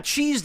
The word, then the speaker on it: cheesed: Yeah, cheesed is one syllable, Farthrax. It would be 2 syllables if it were cheesed. You know, kind of like wanted. But, it's one.